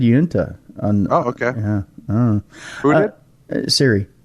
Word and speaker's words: Uinta: That's what Unida? No. She said Uinta.